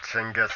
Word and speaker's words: Genghis: hair knots Genghis Khan for those who don't recognize the proper pronunciation there's no hard K sound and the Mongolian language and yes jingis is the actual pronunciation mongolia is itself or